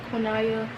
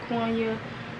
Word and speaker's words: Konaya: right at that so because konaya some people pronounce it quanya all that after a